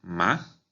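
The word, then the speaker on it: 马: Esta palabra en segundo tono, ma, significa cáñamo. esta palabra en tercer tono, ma, significa caballo.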